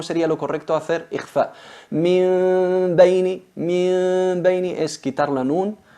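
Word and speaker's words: من بين: Se pronuncia min beini, la transformamos en una mim, pero con gunna, con disimulación con gunna,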